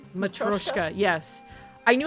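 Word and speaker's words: matryoshka: Machoska. Matroska.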